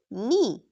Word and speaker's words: knee: If a word starts with KN, pronounce only N. Examples. K N I F E. Knife. K N E knee.